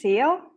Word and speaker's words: Ciel: So I don't actually know, but the one that is most efficient, I suppose, it's a French name, and you basically pronounce it as you should there. It really is Ciel.